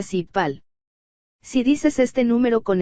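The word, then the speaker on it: 십팔: El número 18 se pronuncia sipal.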